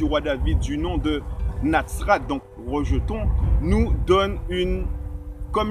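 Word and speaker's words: נצרת: Par rapport à l'étymologie du mot Nazareth, il faut savoir que Nazareth se dit en hébreu Natsrat et que ce mot est constitué sur une racine de 3 lettres, Nun, Sadi, Resh, qu'on prononce Netzer.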